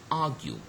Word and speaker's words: argue: And argue, so the first one is stressed, okay, though it's just a noun, it's just a vowel.